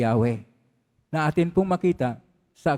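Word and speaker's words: Yahweh: una sa kanyang pangalan ang pangalan ng Diyos ay mayon pong apat na titik yod he wab he y h na ang pag big p bigkas po diyan ay yahwe na atin pong makita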